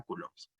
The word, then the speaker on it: coulombs: la-19 cs o coulombs la pronunciación correcta sería coulombs vale pregunta de examen